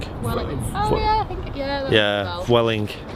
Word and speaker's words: Vueling: Vueling is pronounced Welling.